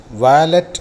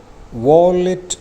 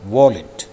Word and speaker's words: wallet: രണ്ട് വാക്കുകളുടെയും ഉച്ചാരണം വാലറ്റ് എന്നല്ല, WALLET ഉച്ചരിക്കേണ്ടത് വോളിറ്റ് എന്നാണ്. വോളിറ്റ്.